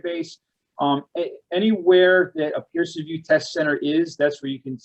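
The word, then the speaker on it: Pearson VUE: testing facility called pearson pearsonview um it's spelled p-e-a-r-s-o-n pearson and then view is spelled v-u-e um and those if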